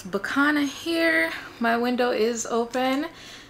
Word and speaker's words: Bicana: when they see the B-I-C-A-N-A. Some people may think it's Bianca, but it's not Bianca. It's Bicana. My name is Bicana.